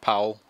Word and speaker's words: Paul: written no yeah well it's it's pronounced po spelled Paul but it's German and um yeah I